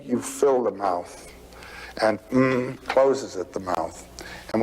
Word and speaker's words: AUM: It's written a U m. You start in the back of the mouth. Ah, and then u you fill the mouth and m closes at the mouth.